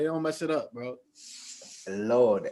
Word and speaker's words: Laud: mess it up bro lord l-a-u-d get it right please you know the a you makes the all oh you got [